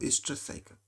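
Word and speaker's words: oestrus: Next example किसके हैं, हमारे पास दिए हैं बुक में मेंस्ट्रुअल साइकिल और ईस्ट्रस साइकिल. ओ साइलेंट है, इसको ईस्ट्रस साइकिल पढ़ेंगे, इसको मेंस्ट्रुअल साइकिल.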